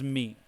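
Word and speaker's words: 三: And a secondary pronunciation of the word 3 that we know as san is me.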